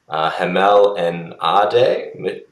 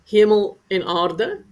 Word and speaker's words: Hemel en Aarde: So let's head to, I apologize in advance, Hamel and Ade. Fiona, how do I pronounce that? Hemel en aarde. So it Hemel en means heaven aarde. and earth. So heaven is hemel, and aarde is earth.